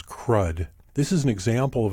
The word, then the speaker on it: CRUD: The four basic functions of a database are create, retrieve, update, and delete, often pronounced as CRUD.